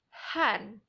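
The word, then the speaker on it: hän: is the same so how to say it is han he is or she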